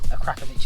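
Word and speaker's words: Akrapovič: two in all in all honesty is the akrapovic exhaust and that is how it's said so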